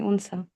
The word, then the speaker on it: Unsa: जजाकिल्लाह खैर, अब मैंने आपका नाम सही लिया, उनसा ही है? जी जी, असल में ये उनसा ही है, थोड़ा स्पेलिंग में एरर है, असल में UNSA है, अच्छा, बट प्रोफेशनली लिखा हुआ है AUNSA, उनसा।